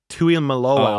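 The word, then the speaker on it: Tuimoloau: Tui Malo.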